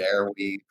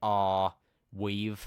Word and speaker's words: Arweave: In favor of Arweave, or how do you pronounce it? Do you guys know? Arweave? Are we? I've been calling it Airweave myself, so Yeah, I don't know. It's AR Weave, so I suppose it's Arweave.